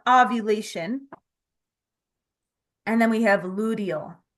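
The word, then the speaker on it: luteal: and then we have ludal l u t a l it sounds like you're saying ludal like with a d but it's actually spelled with a t now the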